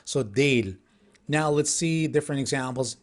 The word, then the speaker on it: değil: Now here, as I said, at the beginning of the lesson, the soft G is used here, but actually it's not pronounced so actively. That's why, as if there is not that letter. So değil, Now let's see different examples.